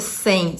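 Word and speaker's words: Cem: Então, assim, é um rapaz que é o Sem, o nome dele é Sem, C-E-M, mas a pronúncia é outra.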